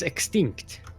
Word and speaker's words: Exoxtinct: It's pronounced as extinct.